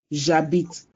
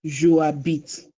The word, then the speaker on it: j'habite: I corrected that it is j'habite, not je habite. You have to drop the E. It becomes je habite. It becomes j'habite, not je habite.